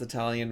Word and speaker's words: Italian: In eighth grade my teacher told us Italian was pronounced with it at with it at the beginning not long. I because you visit Italy with an at the beginning not the long I sound.